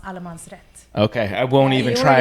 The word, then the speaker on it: Allmansrätt: It's pronounced Allmansrätt.